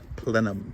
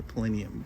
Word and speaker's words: plenum: And it's called the plenum. Am I pronouncing that correctly? Yes. Plenum. Plenum. Plenum. I want to say plenium.